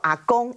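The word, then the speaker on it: Agong: 元首叫做阿公，哎，我没有念错哟，的确是跟台语的阿公是同样的发音，但是呢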